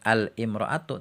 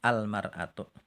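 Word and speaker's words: المرأة: Nah, untuk imraatun ini ada pengecualian. Jadi, bacanya bukan al-imraatu tapi alm'atu. Nih catat nih imroatun. Nanti kalau dikasih alif lam bacanya almaratu ya. Alifnya dibuang almaratu.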